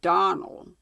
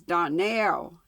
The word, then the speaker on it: Donnell: "Clarence Elmira told me that you pronounced our name Donnell. Now, Miss Shirley, the correct pronunciation of our name is Donnell, accent on the last syllable.